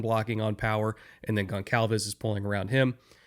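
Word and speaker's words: Goncalves: And that's predominantly because that guard center guard trio like not just Quinton but Tanner Bordellini, Matt Gonalves, at least I think it's pronounced Gon Calves.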